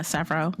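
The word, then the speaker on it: Sevro: I don't know how to pronounce his name. Was it Savro? Savro? Yeah, Savro.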